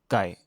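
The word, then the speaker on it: ไก่: Le mot poulet se dit kai. En fin de mot, il se prononce comme un K, mais il est sec et non relâché, et il met fin au son.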